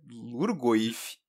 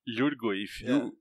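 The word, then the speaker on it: Lhurgoyf: Exato, mas o nome o nome do tipo de criatura é Lurgoif. Lurgoif. Yur, se pronuncia Yur.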